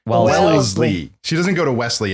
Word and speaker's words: Wellesley: I said Wesley. Wellesley.